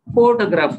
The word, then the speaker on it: photograph: the stress pattern photograph we stress there the four first syllable we say photograph we call but when